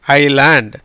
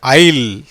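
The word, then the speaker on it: isle: எப்படி வருது, ஐல். ஸ்பெல்லிங்கை பாருங்கள், உச்சரிப்பை பாருங்கள், ஐல். ஏஐக்கு ஐ, எஸ்ஸுக்கு உச்சரிப்பு கிடையாது, ஈக்கும் உச்சரிப்பு கிடையாது.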